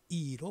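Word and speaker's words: 益: 마찬가지로 중국 발음은 기역 받침이 없어서 이로 발음됐죠.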